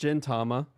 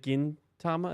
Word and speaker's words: Gintama: Is it Gintama? Is that how you pronounce it? Yeah, because it's like Gin for gold.